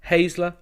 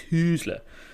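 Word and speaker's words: Hüsler: properly because he's winning, and it's Hazler. I don't know. There's an umlaut on it, so that makes me think it's Husler. But anyway, he beat Jannik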